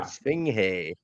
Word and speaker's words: Esfinge: Esfinge. I was saying it, but I forgot the G is silent in Spanish, so it's Esfinge.